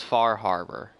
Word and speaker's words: Far Harbor: It's not Fall Harbor, it's Far Harbor.